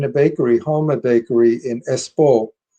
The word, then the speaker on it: Espoo: The second one was taken in a bakery, Halma Bakery in Espoo. Espoo is the way it's pronounced, which is outside of Helsinki, and that was at 6 o'clock in the morning.